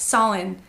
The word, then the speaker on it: Samhain: we're gonna talk about Sawin spelled like Samhain which makes no sense to me anyway so I